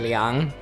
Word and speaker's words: Liang: American people would pronounce it Liang, but it's actually Liang.